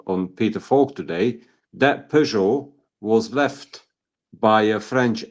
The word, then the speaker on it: Peugeot: Given that it was in America, it was not a Peugeot. It's a Pujo because that's how they pronounce it.